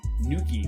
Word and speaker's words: Nuckey: I remember there's one DJ, his name is DJ Nuki, but he spells his name Nuckey.